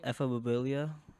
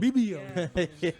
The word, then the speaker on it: ephebophilia: So the word is called ephebophilia, Huh? 15 through 19. and it's 15. Yeah. Oh, He 15 said to 19. Ebobibio.